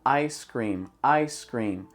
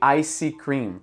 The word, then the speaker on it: ice cream: Então, ice cream, em vez de icy cream. A palavra ice cream deveria ter só 2 sílabas. Icy cream acaba tendo 3.